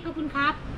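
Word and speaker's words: ขอบคุณครับ: Kapun ka. Kapun ka. Yeah. Wait. You have to say kapun kap. Kapun kap. Yeah, kap. Kap is for the men. Yeah. Ka is for the woman.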